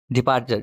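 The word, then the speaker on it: departure: डिपार्चर इसको डिपार्चर आर जो है लास्ट में बिल्कुल साइलेंट होता है यूके में ब्रिटिश में। डिपार्चर चर तक तो आवाज सही आती है लेकिन आर बिल्कुल हल्का सा साइलेंट तो नहीं होता लेकिन हल्का सा डिपार्चर जैसे लेक्चर में होता है लेक्चर लेक्चर तक तो पूरी आवाज आती है आर आगे बिल्कुल सॉफ्ट सा होता है लेक्चर नेक्स्ट स्लाइड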